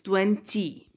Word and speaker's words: twenty: But the y here is pronounced e, so it's 20.